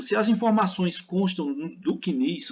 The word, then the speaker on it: CNIS: informações sociais o CNIS esse cadastro nós se pronunciamos assim CNIS é assim que nós falamos lá na Previdência diz aqui que eles